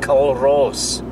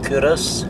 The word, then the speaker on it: Culross: are not aware of the place, they probably pronounce it CULROSS because it's spelt C-U-L-R-O-S-S, but I assure you it's actually pronounced CULROSS.